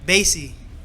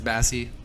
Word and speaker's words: Bassy: Bassy.